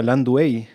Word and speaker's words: Landua: Yo siempre te he dicho Landua, pero últimamente escucho que se pronuncia Landuey. Sí, pero los nombres en español hay que pronunciarlo en español nomás.